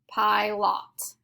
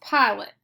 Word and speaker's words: pilot: Our second syllable says lot, pie lot. We know that's not how we say this word. It is pronounced pilot. So we need to mark our O with the schwa sound.